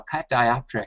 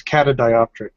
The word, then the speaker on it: catadioptric: I doing this presentation I saw cat dioptric and I I think I've been mispronouncing that for a long time. Cat uh it just doesn't seem right to me. So if I screw it up then uh you're missing an a. It's catadioptric. Katadioptric.